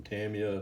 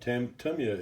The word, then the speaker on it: Tamiya: over the years i've called it everything from tamiya to tamia to tonya but tomia is the actual correct pronunciation of the brand tamiya uh tamiya bain